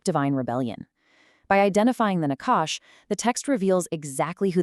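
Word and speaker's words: נחש: First up, we have the Nakash, pronounced Nakash.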